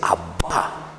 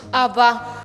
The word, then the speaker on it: Abba: Muy bien, y esa es la palabrita que dijimos hace rato, que en hebreo se dice Abba, que quiere decir Padre. ¿Cómo se dice en hebreo, queridos niños? Abba.